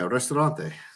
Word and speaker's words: Ristorante: Now, is that the pronunciation? Aldo's Ristorante Italiano? Yeah, Ristorante.